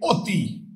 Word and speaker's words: অতি: এর উচ্চারণ যখন এর মত হবে তখন হবে বিবৃত। যদি আমরা বলি অতি।